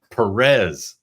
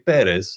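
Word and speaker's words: Pérez: like wait a minute you pronounced your name Perez uh which is a very angelized way of saying it's supposed to be perz I know I understand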